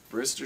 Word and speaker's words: Brister: Twitter is Brer Street that's spelled like Mister but with a br r b r i s t e r r space s t brist Street Productions or local